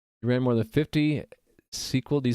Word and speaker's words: SQL: So it's not an acronym, it's an initialism. You spell it out in its initials, SQL.